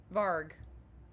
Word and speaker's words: Varg: in the silent room varg which rhymes with argh varg appears from the darkness